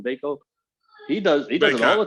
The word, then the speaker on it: Bacot: Bacot.